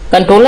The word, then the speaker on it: Comptroller: कंट्रोलर या कंट्रोलर आप pronounce कर सकते हैं, कंट्रोलर एंड ऑडिटर जनरल, नियंत्रक और महालेखा परीक्षक।